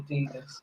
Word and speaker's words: Adidas: It's definitely Adidas.